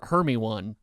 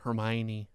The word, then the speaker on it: Hermione: is yeah you can you could pronounce Hermione her her me one four three books if